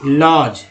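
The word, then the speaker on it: lodge: या लॉज देखिए, लॉज, जिसमें D साइलेंट हो जाता है।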